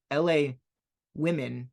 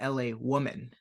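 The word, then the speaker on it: L.A. Woman: one little mistake on their video I said La women not LA Woman which yes there is a difference like I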